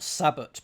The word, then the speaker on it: sabot: Uh let's see if chambers will enlighten me on the pronunciation. Uh a shoe car from a single block of wood. And the pronunciation is sabo. Sabo. Okay.